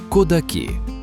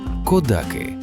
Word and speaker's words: Кодаки: Його офіційна назва Кодаки. Саме так. З наголосом на останній склад ви знайдете його в довідниках. Але тут, на місці для всіх, хто тут живе, це село завжди було і є Кодаки. Ця маленька різниця у наголосі лише перша загадка цього місця.